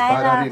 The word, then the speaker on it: Bailarina: She's having a tough time pronouncing it, but it's Bailarina.